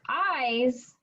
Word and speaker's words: eyes: long or small so eyes it is actually that one's confusing because it's written with the letter e but it sounds like a long eye so eyes that's a